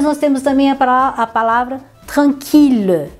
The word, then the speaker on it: tranquille: Então esses daqui sempre a pronúncia de um L só. Milliard, million, billion. E depois nós temos também a palavra tranquille, tranquille, que é tranquilo.